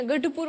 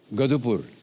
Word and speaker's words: गढ़पुर: गधड़ा, सर गढ़ आता है ना, गढ़पुर बोलिए, कोई बात नहीं, गढ़पुर। गधुपुर, ढ ढ गधुपुर, गढ़पुर।